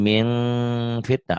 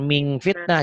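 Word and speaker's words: من فتنة: Min jadi min fitnah. Ada engnya tetap. Min. Jangan ming fitnah.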